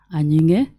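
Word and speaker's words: Anying: other letter yes so it is an spelled as a n y i n g now that g is silent so my name is Jinta aning and um currently an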